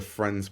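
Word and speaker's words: Phriends: the print that they're calling the friends print but it's spelled p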